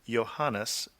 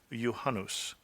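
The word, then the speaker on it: Juhannus: to what Melissa said she seemed to pronounce the finnished word for the midsummer Festival as johanes where it should be yanus so I'm assuming now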